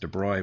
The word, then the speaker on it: de Broglie: Okay, so this is following the work of, I'm going to say de Broglie. I'm told it might be pronounced de Broglie, but I like saying de Broglie.